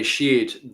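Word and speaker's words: sídhe: How's that word pronounced, Philip? Oh, yeah. The Sheed, the fairy folk.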